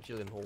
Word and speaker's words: Gyllenhaal: It's that Jake Gyllenhaal one, or however his name's pronounced. I know it gets funny about his name, because it's not pronounced like how it's spelt, but is it Nightcrawler?